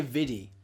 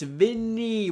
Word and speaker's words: Vinny: Some people say Viddy. It's Vinny with an N.